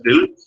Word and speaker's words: tilde: This is going to be this, you call it as tilde. This is going to be the tilde. Pronounce it as tilde, and you express this in this way.